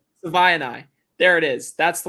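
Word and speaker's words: Savaiinaea: Do you know how to pronounce his last name? Savaianai.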